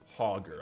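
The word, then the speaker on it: Hogger: Hoger, I think, is the right way. Like a hog.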